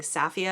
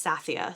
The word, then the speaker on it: Sathia: Therion and Sathia, I think I've been saying Saphia because that's what it sounded like in the audiobook I was listening to, and then I read it and it's Sathia, so if I said it wrong, sorry.